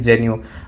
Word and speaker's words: genu: VM और यहाँ पर मैंने AG लिख दिया, आर्टिकुलरिस जेन्यू। अब आर्टिकुलरिस जेन्यू की स्पेलिंग भी लिख देता हूँ, अगर आपको प्रोनाउंसिएशन